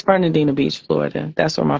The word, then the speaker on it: Fernandina: It's Fernandina Beach, Florida.